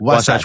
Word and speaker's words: Wasatch: If he competes at Sasquatch, what's how do you pronounce it? Wasatch Warrior.